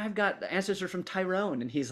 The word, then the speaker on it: Tyrone: They were had settled in Tyrone. Is that how you say it? Yep. Tyrone, or because when I first started saying it, go ahead. Yeah, like Tyrone, yeah. Like Tur, instead of Ty, it's Tur.